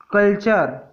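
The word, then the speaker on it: culture: तो जब भी टी के बाद UR आए तो टी का उच्चारण च हो जाता है। उदाहरण से समझते हैं। कैप्चर, कैप्चर मीन्स होता है पकड़ना। फ्यूचर, भविष्य। कल्चर, संस्कृति।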